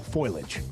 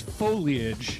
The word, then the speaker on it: foliage: We're running out of time for the fall foilage. The fall what? Foilage. Okay. Is it foliage or foliage? It's foliage. Foliage. It's three syllables.